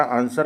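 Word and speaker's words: answer: इसी तरह आंसर आप पढ़ते हैं। W आपका साइलेंट रहता है।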